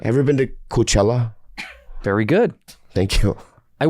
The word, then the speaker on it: Coachella: Coach I went to I went to Let me say it right. Yeah, I got it. Have you ever been to Coachella?